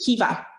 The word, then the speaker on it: Caoimhe: The pronunciation is Kiva. So my students say, oh, so Kiva is your nickname and your name is Caoimhe? No. Like this actual pronunciation is Kiva, because in Irish, MH is like a V, and I can't explain the rest.